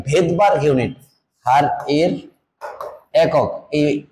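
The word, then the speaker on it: Svedberg: একক টাকে বলা হচ্ছে ভেদবার্গ ইউনিট ভি ইডি ভেদ বি আর জি ভেদবার্গ ইউনিট কিন্তু ওই যে বললাম তার ভেদবার্গ হলো তার নামের সামনে কি আছে সাইলেন্ট এস তাহলে এস হচ্ছে ভেদবার্গ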